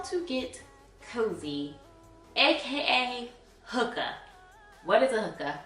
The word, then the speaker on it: hygge: Like, I looked up the term, and this is what the Oxford Dictionary says how you pronounce it. Hookah. Hookah. Or you can pronounce it Hygge. Hygge.